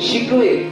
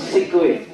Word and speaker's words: शिकवे: शिकवे नॉट सिकवे, ठीक है?